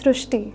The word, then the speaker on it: Shristi: So in Marathi, the word Ri is pronounced as Ru. So that is why the pronunciation goes Shristi.